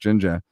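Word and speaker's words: Jinjer: all the South Africans know that you say it just Ginger so what did we do we went ahead and and changed the spelling to j i n j r so that they wouldn't mispronounce us the the four Americans that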